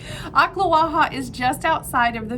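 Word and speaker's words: Ocklawaha: about it there's like that sounds like they're coughing something up akhla waha is just outside of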